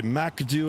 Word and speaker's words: MCDU: here and or the MACD as I call it, the MCDU or I pronounce it Macd M A K D E W.